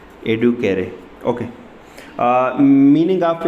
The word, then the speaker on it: educere: इसको लातीनी में एडुकेरे, इस तरह इसको क्या कहते हैं, प्रोनाउंस करते हैं। ये एक वर्ड है, इससे ये क्या हुआ है, ये डिराइव हुआ है जी, एडुकेरे।